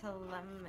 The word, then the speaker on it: Ptolemy: You actually don't have to pronounce the P. It's So a how do lot you like say in the it? word pterodactyl. It's just telem, Oh, teleme. Yeah. Ptolemy.